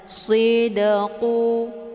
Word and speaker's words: sidqu: yanfaus shodiqina sidquhum sidqu ada Dal sukun yang terdapat di pertengahan kalimat ini dinamakan dengan Qalqalah Sura cara bacanya dalnya dipantulkan dengan pantulan ringan sidqu keluar bunyi De sekedar saja tidak melebihi ya jangan terlalu kuat dipantul qallahu hadza yaumu yanfausiqina